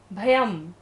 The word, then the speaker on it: भयं: नाश तस्याशु नाश, मुप्याति भयम, य के ऊपर बिंदी हर, बाद में का क्या वर्ड है, भ, तो बिंदी का उच्चारण क्या होगा, म, भयम भीएव, यस्तावकन, क के